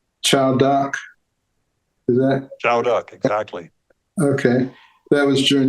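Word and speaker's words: Châu Đốc: the actions you did I think it's PR pronounce Chow duck is that Chow duck exactly okay that was during the Ted offensive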